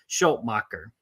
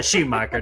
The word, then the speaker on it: Schumacher: directed by joel um schultmacher how close was i yeah that worked out is it schumacher yeah schumacher that's it i see uh if